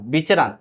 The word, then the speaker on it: विचरण: है जरा ध्यान देना र का उच्चारण है बीचर ना विचरण इसी को बोलते हैं प्रसार